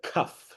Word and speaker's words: kaf: The next letter we have, this is called a kaf, like the sound of a K.